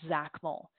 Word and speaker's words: XACML: we restrict access through something called Zach Mille it's spelled xacml and it is a